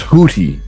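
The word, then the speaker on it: Houthi: targeted targeting y uh the hoodie hoodie group houie is spelled h o u t h but it's pronounced hooti uh they're like a underground terrorist group they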